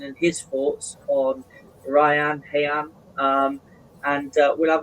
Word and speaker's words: Rayan: When did I first hear about Vitor Hayan? It's That's the way we say his name in here.